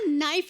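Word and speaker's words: knife: मैं चाकू को भी कनाइफ बोलता हूं। कनाइफ नहीं होता नाइफ होता है। केस साइलेंट रहता है।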